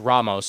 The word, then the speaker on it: Ramos: Rodney Ramos or Ramos, however you want to pronounce it. I always screw it up. It's Ramos, okay?